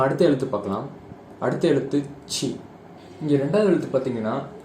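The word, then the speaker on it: つ: அடுத்த லெட்டர் வந்து பார்த்தீங்கன்னா சு. இதுவும் வந்து பார்த்தீங்கன்னா ஒரு எக்ஸெப்ஷன் தான். இங்கே வந்து பார்த்தீங்கன்னா டூக்கு பதிலாக சு அப்படின்னு சொல்லுவாங்க. சு இங்கே கொடுத்துருக்கேன் பார்த்தீங்களா, இட் சு. சு அப்படின்னு ப்ரொனவுன்ஸ் பண்ணணும்.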